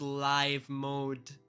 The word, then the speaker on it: live: it is I know it is spelled the same but it is live mode you also have live TV not live TV this is live mode because it's live like it's actually happening not live mode I also hear